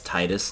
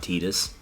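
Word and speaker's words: Tidus: no the story man are we all in agreement that it's Titus not Titus yes I always play Titus yeah it just sounds better like I don't know much better I don't even care if it's technically no let's not do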